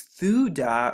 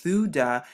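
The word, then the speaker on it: תודה: So like we just went over and talked about, thanks means thuda, or pronounced thuda, as we saw in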